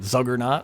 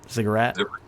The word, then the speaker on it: ziggurat: They have these tall black obelisks, and somewhere at the center of this thing is a I always say it wrong, but Zuggernaut, or a big temple. Ziggurat. Ziggurat with a staircase.